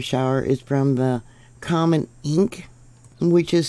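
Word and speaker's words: Encke: And research recently says that they believe that the debris from the Taurid meteor shower is from the comet Enk, which is spelled E-N-C-K-E.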